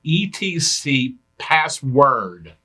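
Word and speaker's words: /etc/passwd: which i'm going to pronounce as etc password that's commonly referred to as the password file but spelled on my pass sswd much like the command you use to change your own login password is spelled that way each line in that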